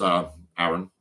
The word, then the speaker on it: Aron: My cousin's Aaron. Yeah. My name's pronounced Aaron, which is why I call myself Ron, because it means that any confusion is completely taken out of it.